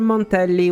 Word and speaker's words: Montelli: Moni and monelli now apart from the dou L Sound which is fine the word monelli was pronounced correctly raguna instead is a